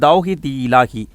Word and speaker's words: தவ்ஹீத் இலாஹி: இதனுடைய சரியான உச்சரிப்புன்னு பார்த்தீங்கன்னா தவ்ஹீத் இலாஹி.